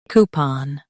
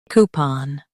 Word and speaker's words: coupon: coo pon coupon coo pon coupon In US, stress coo. In UK, stress pon.